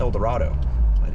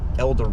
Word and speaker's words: El Dorado: town called El Dorado you can't say that in Kansas they say eloro eloro even even nobody pronounces it El the township is like I'm the mayor of eloro on the news there's a storm it's an eloro if you stay El Dorado people be like what and I'm like well